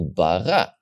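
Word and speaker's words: ברא: beginning of the syllable, it's going to have the diggesh, like this example, bara. In the bet, there's a diggesh because it's the beginning of the word.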